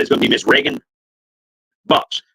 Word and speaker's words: Reagan: Senate, and the big house, and that is going to be Miss Reagan Box. Reagan, like Ronald Reagan is how it's spelled.